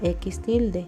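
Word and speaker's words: x̃: se denomina a veces se pronuncia x tilde o m/m no existe una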